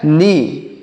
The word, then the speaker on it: knee: यहाँ पर भी के साइलेंट है, मतलब हम इस के को यहाँ पर नहीं पढ़ेंगे।